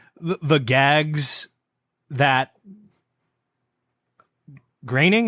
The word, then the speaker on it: Groening: like the gags that graining is that how you pronounce his name i only see it written in credit yeah yeah yeah that ingraining even though it doesn't look like that matt groening has like